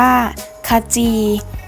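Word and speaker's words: ขจี: ครึ่ง เสียง ค่ะ ค่ะ จี อ่าน ว่า ขะ จี คำ ว่า ค่ะ เรา จะ อ่าน ออก เสียง เพียง แค่ เครื่อง เสียง ค่ะ เห็น ไม่ คำ ว่า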